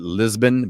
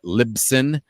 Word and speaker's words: Libsyn: to pronounce it uh a lot of people pronounce it lisbon but it's libsyn like liberated syndication uh i believe is